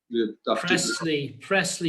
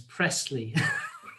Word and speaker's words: Priestley: And just to remind you, the residents on Priestley Road, I just want to reiterate the offer to meet separately with them, discuss that. Presley, you must learn how to say the local road names. Presley.